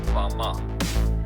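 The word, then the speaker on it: בָּמָה: in the Strong's Hebrew Dictionary, and it is pronounced Bama.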